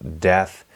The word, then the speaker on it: DETH: my legacy deck this i call death and that is spelled d-e-t-h and it stands for